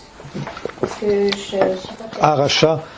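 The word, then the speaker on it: Harasha: Aracha, ça s'écrirait, c'est l'article H-A, R-A-S-H-A. H-A-R-A-S-H-A, ok.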